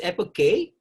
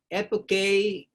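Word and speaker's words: epoché: search in the google how to pronounce it properly so it's apple k apple k originally is a greek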